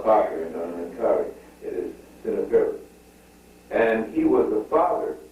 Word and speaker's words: Seneferu: One of the first rhomboidal pyramids was said to be Seneferu. Seneferu. S-E-N-E-F-E-R-U. Seneferu. Now, that's not Senfru, Seneferu that you see. There's no Khufu, no Khafre, no Menkare. It is Seneferu.